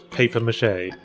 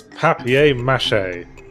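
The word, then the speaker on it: papier-mâché: like some people in England referred which is paper mache yeah paper mache paper mache Vings it's papier-mache I'll just paper mash paper Matt yeah let's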